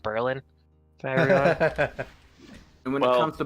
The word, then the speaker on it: Berlin: there's a town called uh Berlin but it's pronounced Berlin and when it comes to Buffalo you've never